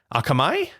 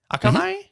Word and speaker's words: Akamai: Akamai? Mm-hmm. Akamai? Mm-hmm. Any of them. And Oracle, two key providers of internet infrastructure services. Oracle said Thursday afternoon that its outage was the result of Akamai's service disruption.